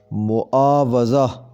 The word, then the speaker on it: معاوضہ: کو صحیح پڑھیں گے معاوضہ، واو پر زبر آتی ہے، بالعموم اسے واو کے نیچے زیر دے کر پڑھا جاتا ہے، تو ایسے صحیح پڑھیں گے معاوضہ، معاوضہ۔ محاسبہ، یہ لفظ